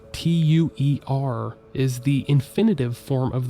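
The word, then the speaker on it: tuée: However, in the sentence, Omar Matua, that verb should have been conjugated to tue, spelled T-U-E-E. While these 2 different verb forms are pronounced exactly the same, the difference is pretty notable.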